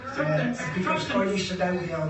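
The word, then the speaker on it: thruppence: All 3 pence or thrupence. Thrupence.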